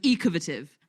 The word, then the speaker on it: Ecovative: it's spelled ecovative and they say it's the same as a pronunciation of innovative so it's ecovative and they've realized that